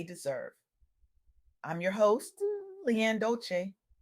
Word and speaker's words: Dolce: I'm your host, Leanne Dolce, pronounced dol-say, like sweet softness whispered in French.